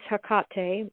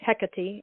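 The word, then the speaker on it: Hecate: And then um the goddess Hakate or Hecati as some people pronounce it came into my world a few days ago like demanding her novel.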